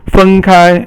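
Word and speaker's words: 分开: And fen kai is to separate. So kai is to open, and fen is to divide. So fen kai is all first tone, and it means to separate.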